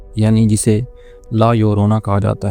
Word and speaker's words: La Llorona: यानी जिसे ला योररोना कहा जाता है। इसके स्पेलिंग आपको स्क्रीन पर नजर आ रहे होंगे। ला यरोना जो कि स्पैनिश लफज है और इसका मतलब द वीपिंग वुमेन है।